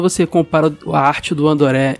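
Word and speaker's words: Andore: O nome Andoré é como os japoneses pronunciam André, né? Porque eles não fazem o dr, então eles falam Andoré.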